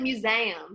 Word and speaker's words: museum: You say it like museum.